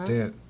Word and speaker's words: accident: Now that next C, we haven't talked about this yet, but that next C is going to make a sound like an S. Uh-huh. Accident.